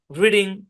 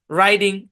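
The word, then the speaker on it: riding: আপনারা অনেকে উচ্চারণ করে ফেলতে পারেন। ড্রিভিং, রিডিং, মেকিং উচ্চারণ করতে পারেন। এগুলো প্রত্যেকটা কিন্তু ভুল উচ্চারণ। এগুলা কি? ভুল উচ্চারণ। তাহলে এগুলার সঠিক উচ্চারণ কি? এগুলো সঠিক উচ্চারণ হচ্ছে ড্রাইভিং, রাইডিং, মেকিং।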